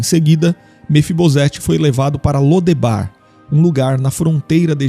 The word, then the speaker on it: Lodebar: A cidade de Lodebar ficava a leste do rio Jordão e provavelmente também era conhecida como Debir. O nome Lodebar, ou dependendo de sua pronúncia Lodevar, indicava um lugar sem pastagens.